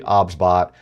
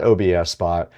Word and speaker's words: OBSBOT: The pronunciation of the product is actually OBSBot. It is not OBSBot.